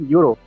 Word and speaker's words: euro: E is a vowel, but its sound is not vowel because it is pronounced as euro.